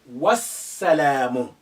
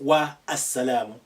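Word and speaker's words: والسلام: You say wassalamu, not wa as-salamu. Now the alif is silent because it's not at the beginning. There is a letter before it. The lam is silent because we have the sun letter after it, which is carrying shadda, and the shadda has an embedded sukun within it. So they're both silent for different reasons.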